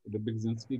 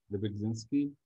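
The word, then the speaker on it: Rybczynski: Silent इसमें कुछ भी नहीं है।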